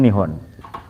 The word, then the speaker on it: Nihon: hidup Jepang gitu tok itu Nipon itu cara bacanya nihon ada chat Nipon ya